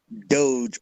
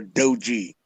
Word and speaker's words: Doge: not a Dodge Coin it's not a Dodge Coin or a Dodge Charger or a Dodge I guess the the safe way to pronounce it the safe way to pronounce it is dog doggy Doge or dogey yeah I mean I